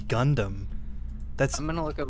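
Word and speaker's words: ガンダム: getting that wrong yeah i mean this says just gandamu yeah that's what i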